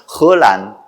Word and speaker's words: 화란: 그래서 화란이 중국말로 발음하면 헐란. 그러니까 헐란이니까 그게 홀랜드고 그 홀랜드가 일본말로 건너가니까 오란다.